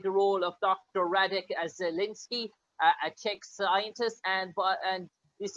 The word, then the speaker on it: Zelenka: It's Zelenka, and Zelenka is a approximation of the word green in Czech.